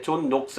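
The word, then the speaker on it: John Knox: 없는게 장락 쓰잖아요 거냐 그런데 이게 그 본토 발음으로 하면 이게 존 녹스 라고 쓰는 게 더 맞는 것 같습니다 자 아 들어가는 이야기의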